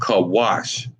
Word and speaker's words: Cush: They are Cushites, and they're called Kawash.